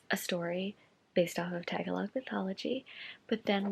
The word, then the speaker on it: Tagalog: I have completely mispronounced this word. It is Tagalog mythology, not Tagalog. I am very sorry for mispronouncing it. I usually do my research before filming, but I was just so tired that I didn't. But I have learned it is pronounced Tagalog, so I'm very sorry